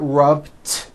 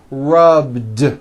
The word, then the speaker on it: rubbed: rub yesterday I rubbed all I did was was add a voiced D sound at the end rubbed it's not rubbed with an unvoiced T it's rubbed like that here's another example clean